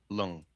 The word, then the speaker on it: Leung: Hong Kong martial artist Bruce, how do you pronounce that? Lung? Lung. Leung. Yeah, Lung. Okay.